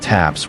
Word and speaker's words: TAPS: system called a top attack protection system taps pronounced taps.